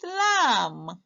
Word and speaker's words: lamb: for the words with lamb sorry let's look for the words with um can you spot those words what's this one again which letter is silent the b is silent very good let's see